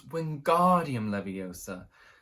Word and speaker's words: Wingardium Leviosa: You're saying it wrong, Harry heard Hermione snap. It's Wingardium Leviosa, not making the gar nice and long.